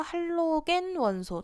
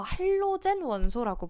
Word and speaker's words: 할로겐: 원소들을 우리가 모두 다 할로겐 원소 또는 뭐 할로젠 원소라고 부르기도 해요. 그래서 이건 발음의 차이여서 할로젠 원소, 할로겐 원소라고 부르는데 이 할로겐 원소들의 소화약제 그 뭐 있냐 이렇게 물어보기 시작하죠.